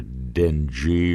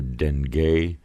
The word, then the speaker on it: dengue: This fever, pronounced either dengue or dengue, depending on where you're from.